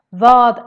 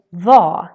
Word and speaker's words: vad: Vad är det? I actually say vad instead of vad, which would be the proper way to say it. But no, we say instead vad.